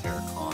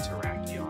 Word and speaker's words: Terrakion: Dashing gave me a lot of flack for saying Terracon in the short, but I know it's pronounced Terrakion.